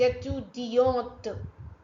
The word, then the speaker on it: étudiante: If any word ends with e, you have to pronounce till that vowel sound. It's compulsory. Je suis étudiante. Otherwise, without e, it will be pronounced as étudiant. Étudiant, without the letter T.